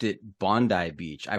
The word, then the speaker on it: Bondi: And I noticed you pronounced it Bondi Beach. I pronounced it Bondi Beach. Is it Bondi? It's Bondi if you're Australian and Bondi if you're American.